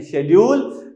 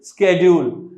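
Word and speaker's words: schedule: फिर से इसकी दो प्रोनाउंसिएशन है, शेड्यूल, स्केड्यूल।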